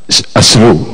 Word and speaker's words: അശ്രു: സ്രവം എന്നതരം ഉച്ചാരണമാണ് വന്നിരിക്കുന്നത്. അതിന്റെ സ്രായല്ല, ഷായിൽ തുടങ്ങുന്ന ഷായുടെ ശബ്ദം വരേണ്ടതാണ്, അശ്രു എന്ന് വരേണ്ടതാണ്.